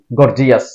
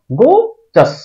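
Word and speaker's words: gorgeous: এটাকে আমরা উচ্চারণ করি গর্জিয়াস ঝাঁকজমকপূর্ণ অথবা চমৎকার এটার শুদ্ধ উচ্চারণ হবে আসলে গোজাস গোজাস গোজাস গর্জিয়াস না গোজাস প্রসিডিউর এটাকে আমরা উচ্চারণ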